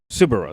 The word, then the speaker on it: Subaru: get that like world uh world audience Subaru. That's how it's pronounced is the company's name pronounced Subaru.